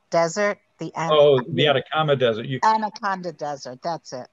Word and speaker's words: Atacama: the one in the uh the i never pronounced it the athabata desert the animal oh the atacama desert anaconda desert that's it okay um that